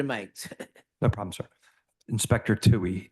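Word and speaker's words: Tuohy: Inspector Tui, could you please state your name and spell it for the record? Yeah. Get close to the mic. No problem, sir. Inspector Tui.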